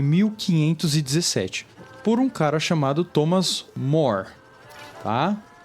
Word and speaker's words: Thomas More: Por um cara chamado Thomas More, tá? Você vai achar várias pessoas aí falando o nome de diversas pronúncias. Thomas Moros, Thomas More, Thomas Moros. Tá, eu vou adotar o Thomas More.